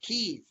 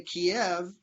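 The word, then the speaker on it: Kyiv: the capital different in kiev the local ukrainians pronounce it kiev if you go in and you say kiev they assume that you are russian balanced because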